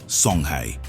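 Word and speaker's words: Songhai: a typical example is the sonai Empire pronounced Soni which covered present day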